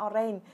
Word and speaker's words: orange: mà đọc là orange, orange. Nhưng mà nó không phải nha mọi người nha. Nó giúp Thủy ha, nó sẽ là orange. Âm j ở đuôi nha. Sorry, âm j ha.